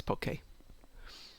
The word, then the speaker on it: poke: crosswise into pieces and it's not poke it's poke for those of you who didn't know wine being one of